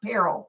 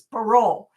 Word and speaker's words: parol: He told me it's not peril, it's parole, and it is a star.